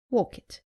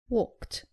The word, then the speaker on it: walked: As you can imagine, the most common mistake is pronouncing the ed as id after all verbs. Let's look at some examples. Common mistake, saying help it. It is helped. Saying walk it.